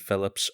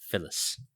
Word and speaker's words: Phillips: BB and Phillips are probably 2 of my favourite characters, and the appropriate response to this was, I'm sorry, I believe it's pronounced Phyllis, which is correct, by the way.